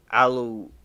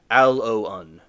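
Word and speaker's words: aloin: The yellow latex from aloe leaf contains compounds called anthrogens, including aleoin. No, wait. The right pronunciation is aloun.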